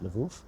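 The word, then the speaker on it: Lwów: and in Polish it's spelled this way laou pronounced Lou and these were the going on in 1918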